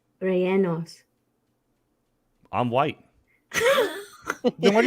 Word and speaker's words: rellenos: How do you pronounce it? The chat? Rellenos. Chili Rianos. Rellenos.